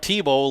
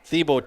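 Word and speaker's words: Thibeau: jacob and i think i'm going to pronounce it thibault it's it's it's not tebow like tim tebow uh the university of florida heisman trophy winner this is thibo t-h-i-b-e-a-u uh so we'll we'll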